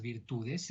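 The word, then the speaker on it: virtù: ese concepto de las virtudes, esa idea del espejo del príncipe, por la virtud, con un acento en la U y final, que es esa habilidad de llegar al poder.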